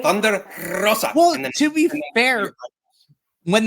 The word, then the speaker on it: Thunder Rosa: You just have to say it when you have to roll your R. You have to say Thunder Rosa.